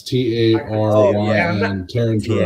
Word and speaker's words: Taryn: Is it Tarth or Tareth Terrell? Terrell? Taryn Terrell. Is Okay, is it Y? Yeah, it's T A R Y N Taryn Terrell.